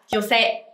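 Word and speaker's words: 女性: Mình sẽ đọc là jose.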